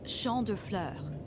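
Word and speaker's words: Champs de Fleurs: just like I imagined Champs de floors how do you say that it's Shand FL it means Field of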